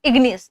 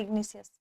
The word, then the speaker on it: igneous: वे इग्नियस rock है ध्यान रखिएगा इग्नियस ना कि इग्निशियस आपको ध्यान रखना है